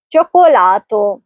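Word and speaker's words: cioccolato: پہلا چی ای کے ساتھ اس لیے اس کی آواز چ ہوگی اور دوسرا چی او کے ساتھ اس لیے وہاں آواز کے ہوگی. اس لیے صحیح تلفظ ہے چوکولاتو.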